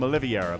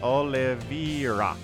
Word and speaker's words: Oliveira: of the map uh I keep calling him oliviera but it's Olivia I think is how we pronounce this Oliveira my brain is gonna